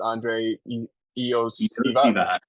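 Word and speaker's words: Andrei Iosivas: It's Andre Iosivas.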